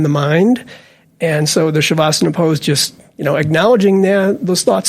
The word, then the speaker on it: Shavasana: So not only did I said it wrong, it's Shavasana. Both ways is fine.